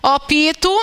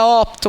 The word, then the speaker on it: opto: Mas a pronúncia opito, nós queremos marginalizar. Repararam a incongruência dos fatos? Mas, enfim, opito não é certo, tá, gente? É opto mesmo.